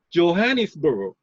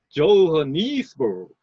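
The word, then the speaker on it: Johannesburg: 여기에서 영어에서는 이거를 JO를 JO로 발음을 합니다. 그래서 이것도 사음절인데 방법은 이걸 발음하는 방법은 여기에 리듬을 주는 방법은 두 가지밖에 없습니다. 약강 하든가 강약강 하는 수밖에 없어요. 자, 약강으로 한번 해볼까요? 조하니스버그. 그 다음에 강약은 조하니스버그. 이렇게 되죠. 당연히 조하니스버그가 훨씬 더 듣기 좋죠. 그래서 그렇게 발음합니다.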